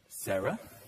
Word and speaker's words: Sarah: Like Sarah with an H, or Sarah without an H. Sarah without an H is pronounced like this. Sarah. And with an H, Sarah.